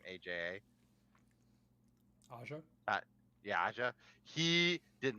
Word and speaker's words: Aja: Aja?